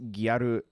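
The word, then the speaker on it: ギャル: somebody oh no uh gal pronounced guaru is subculture style in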